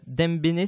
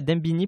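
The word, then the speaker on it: Dembéni: Concernant les mouvements sociaux, toi par exemple, tu es à Dembéné, c'est ça, à Dembini, pardon. C'est ça se prononce comme ça.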